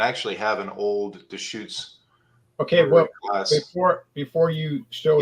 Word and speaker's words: Deschutes: So this is called the correct pronunciation of this is Deschutes. I know that that word causes for me it used to cause, but it's called Deschutes, and they're based in Bend, Oregon.